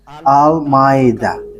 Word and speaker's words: Almeida: So, the way you write it, Almeida, is as it is pronounced, Almeida.